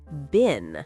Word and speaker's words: been: And today, that tiny little word is bin. Exactly. Bin. B E N. Four letters, one syllable.